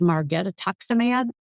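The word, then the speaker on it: margetuximab: another naked antibody and I always want to mispronounce it because when I look at it I see the Name Margaret and that's not it it's Mareta toxim ad really interesting thing about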